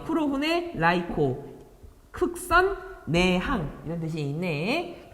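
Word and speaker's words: 黒船来航: 이게 일본어 발음이에요. 쿠로후네, 라이코.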